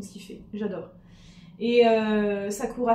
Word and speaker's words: Sakura: qu'il fait j'adore et Sakoura al sakoua festival pour si on veut prononcer à la japonaise parce que les r se prononcent au Japon Saou à festival voilà